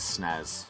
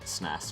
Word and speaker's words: SNES: know in real life would pronounce it snares not SNES or SNES repo with nothing uh